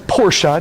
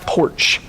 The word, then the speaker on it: Porsche: to say it properly just like Porsche not porch oh so frustrating so